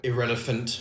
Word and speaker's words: IrrElephant: it relevant radio yes actually glad you've worked out how to say it irrelevant radio hello and welcome